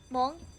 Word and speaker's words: Hmong: Mong? Yeah, it's spelled like H-M-O-G. H-M-O-N-G. Yep.